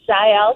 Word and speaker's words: Jael: It's actually pronounced Jael because it's Jael.